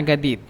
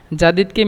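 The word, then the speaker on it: جديد: তারপরে শোয়া শোয়া বাতকাল্লাম আসানা না গাদিদ।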